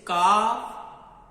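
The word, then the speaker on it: ك: But Kaf sound is light. Be careful, don't pronounce with heavy sound. So how you can pronounce very easily light sound? You will be to just open your mouth. Ka, This sound come from the empty part of our mouth.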